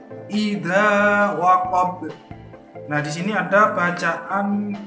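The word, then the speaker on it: وَقَبَ: Wa min syarri ghasiqin idza waqab. baknya juga waqab, jangan waqab. Nah itu salah.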